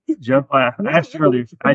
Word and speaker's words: Zhuo: Joe, I asked you earlier. I cheated. I asked you earlier how to pronounce it.